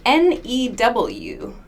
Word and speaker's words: new: Here, not even a U. This is an E. N-E-W. New. That's a long U sound. But the spelling does not use a U.